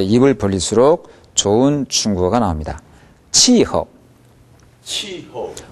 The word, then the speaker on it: 气候: 치허. 치허. 허는 경성으로 발음했습니다.